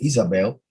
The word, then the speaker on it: Jezebel: translation of that name jezebel which uh the pronunciation actually is isabel means virgin of the